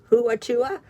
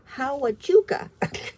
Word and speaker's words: Huachuca: Oh, I have a hard time pronouncing this one's name. Huachuca, Hawachuca military installation.